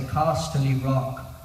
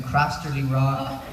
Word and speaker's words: Casterly Rock: accent I put on I say casterly rock and I just couldn't get my head around so I kept saying crasterly raw you know crosstably crust